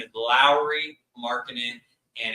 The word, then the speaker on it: Lauri: People used to pronounce his name Lauri, even I did. But his name is Lauri Markkanen, and it's time to put some respect